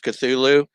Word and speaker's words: Cthulhu: it comes to cthulhu i usually just use cthulhu but actually lovecraft actually describes it as more of cloth or something like that